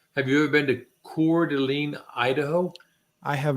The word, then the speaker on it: Coeur d'Alene: had a chance have you ever been to cordeline Idaho I have not okay so Coeur d'Alene